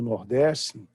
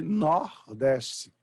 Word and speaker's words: Nordeste: Porque o sotaque do Nordeste tem por característica e empregar vogais abertas em sílabas pretônicas bom então por exemplo nós falamos Nordeste mas em alguns dialetos do Nordeste fala se nordeci com o aberto nós falamos por exemplo